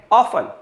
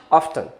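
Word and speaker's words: often: एक बहुत commonly used word है ऑफन, मतलब ऑफन, ऑफ्टन। आमतौर पे हम इसका ये प्रोनाउंसिएशन करते हैं, इसको गलत मानते हैं, सही ये भी है, ये थोड़ा ज़्यादा कॉमन है।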